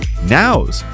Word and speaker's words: Nao: Nao Now. Pronounced exactly like the common sense you need to run a business.